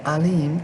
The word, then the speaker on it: Elohim: and he has seeing elohim remember the o is not pronounced as an o alim to abraham sarah woman